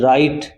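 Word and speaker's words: right: word होते हैं जैसे आर आई जी एच टी राइट इसमें जीच साइलेंट है जैसे राइट हो गया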